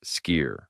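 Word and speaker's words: Skyr: Sky, pronounced ski.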